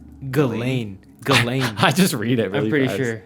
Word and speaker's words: Ghislaine: ] was saying it the same way it's galen galen i just read it i'm pretty sure